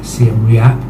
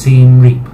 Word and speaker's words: Siem Reap: Cambodia, I was referring to the city as Siem Reap, which I wrongly believed is how you were supposed to pronounce it. It's actually pronounced Siem Reap, so that's that corrected.